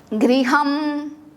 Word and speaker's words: गृहम: हमें इसे अवॉइड करना है क्योंकि संस्कृत में हम GRI इस तरह से साउंड आना चाहिए। गृहम गृहम।